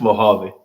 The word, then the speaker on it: Mojave: How would you pronounce that? Houston, Atlanta, Vegas. Mojave. That's Mojave.